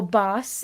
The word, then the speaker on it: Bas: So we could talk with you guys and I don't know if you haven't seen our last live with Baz and Priska, please, or Bas and Priska.